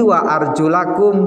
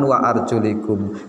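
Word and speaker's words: وَأَرْجُلَكُمْ: bacanya di Indonesia ini Wa arjulakum berarti kalau arjulakum maknanya kaki dibasuh USA terlalu dalam saya mengajikan untuk nahwunya Pokoknya kita baca waarjulakum Jangan Wa arjulikum kalau sampai dibaca WA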